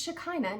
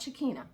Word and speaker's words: Shekinah: I've been saying her name wrong all this time, but it's Shekinah, not Shekinah. But anyway, we're talking about them.